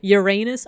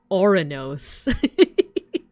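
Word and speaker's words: Ouranos: Um, Uranus. Oh no, that's Orinos. Technically, that's how you say his name.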